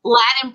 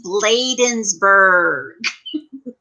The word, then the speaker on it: Bladensburg: gps in my head they'll say latin i'm like it's bladensburg ladies laden like later hosen kind of like but bladensburg and they'll say they'll spell